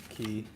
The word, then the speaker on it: Khi: I wanna go over and talk to Key. It's Key, right? That's how you say it. KHI? KHE. Yeah. KHI, but it's key.